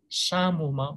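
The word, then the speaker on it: psammoma: This P is silent here, samoma bodies. And there are certain other conditions where samoma bodies is seen.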